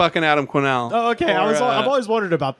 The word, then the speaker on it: Quesnell: you and Twitter I'm just my name Adam quenelle my last name is spelled qu es any ll change about that